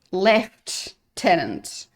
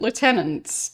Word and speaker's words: lieutenant: Like I thought you pronounce it lieutenant, not left tenant.